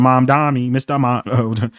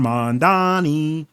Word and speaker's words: Mamdani: So, you see Mr. Mamdani, you can be Zoran Mandani. I always like to say his name like that.